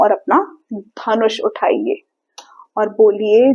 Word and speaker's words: ध: यह भी एक एस्पिरेटेड लेटर है। यानी जब आप इसको बोलेंगे तो आपको एक एयर फील होगी। ध हवा का झोंका आया ना? चलिए सबसे पहले इसके उच्चारण को समझते हैं। हाउ टू से दिस लेटर कैसे बोलना है। ध टंग दांत के पास जाएगी और फोर्स के साथ हम बोलेंगे ध।